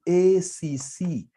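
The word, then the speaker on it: WACC: question advise the company on the optimal w wac how do we get this wac can somebody remind us here can somebody remind us here can somebody remind as here there's someone who pronounced this as wakaka wakaka no it's supposed to be W to get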